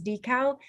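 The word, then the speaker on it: DCAL: shout out to our dartmouth center for the advancement of learning which we pronounce as decal who've done an extraordinary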